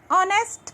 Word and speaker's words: honest: Let's see example of an honest person. अब यहाँ पे देखिए वर्ड में पहला क्या लिखा हुआ है? H है, बट यहाँ पे H साइलेंट है.